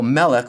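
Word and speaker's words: מֶלֶךְ: the example melik or king. This is a word in which it's accented on the first syllable.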